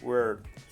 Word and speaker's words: word: Por ejemplo, palabra, se escribe word, no se pronuncia word, se pronuncia word.